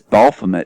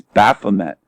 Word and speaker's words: Baphomet: He says Baphomet, and it's Baphomet. There's no L.